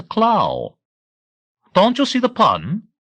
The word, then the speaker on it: Klau: speaking of is Christoph k l a u pronounced the claw don't you see the